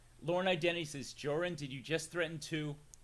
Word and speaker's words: Jorrun: accent very cool uh i go with joran but the joke i've